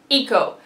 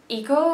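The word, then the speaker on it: Eikko: not actually Eric, it's Eiko. I think it's Eiko, I think that's how you pronounce it. It's spelled E-I-K-K-O.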